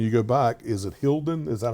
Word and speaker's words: Hilden: I guess when you go back, is it Hilden? Is that how you pronounce it? So actually, I played Hilden. Yes, VfB Hilden.